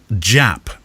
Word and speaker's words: Japp: Here's one from Adrian Japp, and I know that to be true because he said not with a silent J.